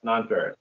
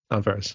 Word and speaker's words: Nonferrous: today David Compton AKA do you pronounce it non feris is that how you pronounce it yes non feris yes non feris how you doing today brother I'm doing good